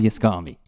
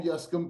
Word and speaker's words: Yescombe: is a lot but his name is Rob Yami Rob thanks for doing this I know I didn't pronounce your name right pronounce it correctly not